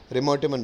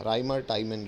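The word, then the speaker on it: Reimer–Tiemann: रिमोटिमन reaction, REIMER, राइमर एक आदमी था और टाइमन दूसरा आदमी था। राइमर टाइमन रिएक्शन लोग रिमोटिमन कहते हैं, बाकी स्पेलिंग याद करनी है तो राइमर टाइमन।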